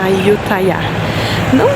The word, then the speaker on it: Ayutthaya: É assim que eles falam, Ayutthaya. Não necessariamente desse jeito, né? Minha pronúncia é bem ruim, tailandês.